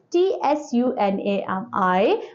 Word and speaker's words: tsunami: बच्चों सुनामी, here the spelling of tsunami is T-S-U-N-A-M-I, but T is silent, that's why we are calling it tsunami.